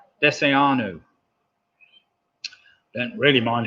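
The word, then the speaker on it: desayuno: Number 3, arguably the most important meal of the day, breakfast, is called Deseanu. Deseanu. Don't really mind how you spell it, but it's spelled Desaayuno.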